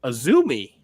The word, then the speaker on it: AZM: Pronounced Azumi.